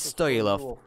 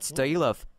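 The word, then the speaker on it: Стоилов: In Bulgarian language, it is Stoilov. I'm not offended. If it is easier for people to pronounce the way they do, I'm fine with it. But Stoilov is the right pronunciation. Yes, Stoilov is correct.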